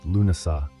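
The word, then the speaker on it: Lughnasadh: Lugnasad, pronounced Lunasa, the Celtic festival honoring Lug, the god of light, craftsmanship, and war.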